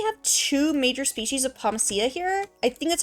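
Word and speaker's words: Pomacea: It is pomacia. Okay. It's pomacia bridges I think is how it's pronounced.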